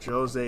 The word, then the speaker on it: Djose: you here all right so jose is how you pronounce it hey new guy me